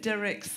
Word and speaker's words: Dirckx: But yeah, you pronounce it Dirckx as in lyrics, and it's Dutch.